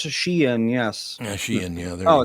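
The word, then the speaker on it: Shein: fast Fashion Store sh I N I would pronounce that Shane h e i yeah Shane what I would say probably would it be Shen instead because it's Chinese sh let's see it's pronounced Shen yes Shen yeah there oh it's because yeah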